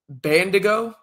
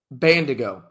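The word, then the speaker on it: Bandaogo: I believe his last name is Bandigo. I believe that's how you say it. Aziz Bandigo.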